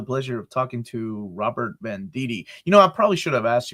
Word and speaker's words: Venditti: my family pronounces it Vendetti, like it's Vindetti. But I pronounce it Venditti because when I used to say it the way my family said it, everybody would misspell my name, like in articles and whatnot. So I say Venditti.